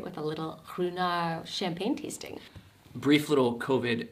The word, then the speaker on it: Ruinart: We just finished the most amazing tour at Ruinart, also pronounced Ruinart. That's the right way to say it.